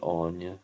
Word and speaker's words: Áine: it right or how they want you to pronounce it sometimes you'll hear people wanting you to use grania and anya because that's what they've been called otherwise that's